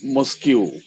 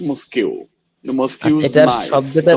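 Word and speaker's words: mosque: হাল এই পৃষ্ঠাটা দেখা যাচ্ছে না এই পৃষ্ঠার দেখি প্রথমটা হ্যা প্রথমটা মাদ্রাসা মসকিউ নাইস মসকিউটার উচ্চারণ হবে ভাই শব্দের উচ্চারণ হবে মসক নট মসকিউ শব্দের উচ্চারণ হবে মসক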